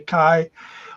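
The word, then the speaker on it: chi: the greek letter key it's pronounced key or some people say kai which is the uh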